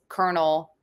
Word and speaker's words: colonel: It's how I learned to pronounce Colonel, C-O-L-N-E-L. Yeah. Colonel. Yeah, not Colonel. Yeah. I just think of like a popcorn kernel, and it helps me.